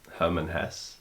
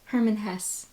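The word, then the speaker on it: Hermann Hesse: I never say it correctly I believe it's Herman Hess Herman Hess okay cuz sometimes I'm like if I'm wrong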